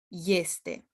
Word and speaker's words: este: These are another exception of a word that begins with e, but it's pronounced with ye, ești, este.